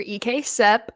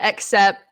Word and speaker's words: EKCEP: the first thing is like how do we pronounce it jaselyn we're EK sep not except not ekc ekp Eastern Kentucky concentrated employment um whoa sorry